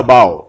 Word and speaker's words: bough: এটা বাও, উচ্চারণটা বাও, BOUGH, বাউজ।